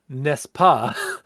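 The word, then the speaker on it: n'est-ce pas: So the French expression nespa uh pronounced nespa uh is what gram gramarians call a tag question.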